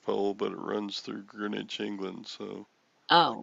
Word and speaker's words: Greenwich: date lines is the greenwich green witch however you say green it's spelled green witch but it's greenwich i learned about that